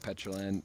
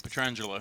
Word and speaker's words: Petrangelo: Jason and you know Nick petrin I I always get his name wrong Nick Nick petrangelo petrangelo I had some trouble with that in